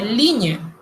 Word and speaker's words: ligne: El sonido de la ñ lo tienen, pero la ñ como letra no existe allá, así que la producimos con la combinación de la G y la N. Por ejemplo, línea, en francés se dice ligne.